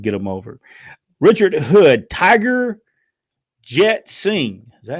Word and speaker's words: Tiger Jeet Singh: Richard Hood, Tiger Jet Singh. Is that how you say it? Tiger Jeet Singh.